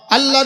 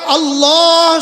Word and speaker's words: আল্লাহ: এবার আল্লাহ শব্দের লামকে পুর করা লাগবে। এবার শেষের হা আছে, হাটা বাতাসে ছেড়ে দেয়া লাগবে।